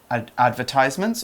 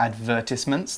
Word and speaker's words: advertisements: We can talk about advertisements or advertisements. There's two pronunciations for that word.